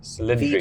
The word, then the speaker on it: Cilindri: How do you pronounce it? Cilindri.